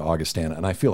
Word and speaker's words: Augustana: It's so funny because now, since I was told that I was pronouncing it wrong, now I've switched over to Augustana, and I feel like such a sellout.